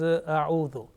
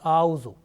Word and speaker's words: أعوذ: The first one is a'udhu. Sometimes it is pronounced like auzu.